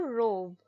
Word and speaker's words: robe: I Pine pin Pine the word Rob changes to robe as a silent E makes the vowel say its name o ER OB robe